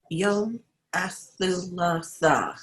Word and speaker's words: الثلاثاء: Try it one syllable at a time. Yom Thu La La Tha. Tha. يوم الثلاثاء. Yom Athalatha.